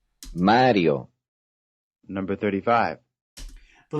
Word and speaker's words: Mario: it's written correctly Mario this is written correctly because if it had an accent over the eye it would be mariyo Mario number 35.